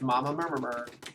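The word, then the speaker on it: Mama Murmrgh: I didn't mispronounce that. That's how everyone pronounces it. It's Mama Murmur.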